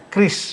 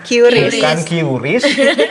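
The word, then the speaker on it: QRIS: Bacanya kris. Bukan kiuris, bukan kiris.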